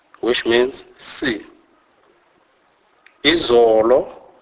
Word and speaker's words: izolo: Never as in hope, as often mistakenly pronounced by white. Examples: bona, bona, which means see. Izolo, izolo, which means yesterday.